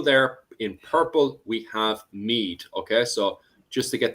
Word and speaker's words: Meath: And also in the middle there in purple, we have Meath. Okay, so just to get the pronunciation, because I know a few people were